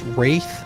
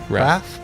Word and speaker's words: Wraith: think someone pointed out I've been pronouncing that wrong i think it's Wraith not wrath yet we're great great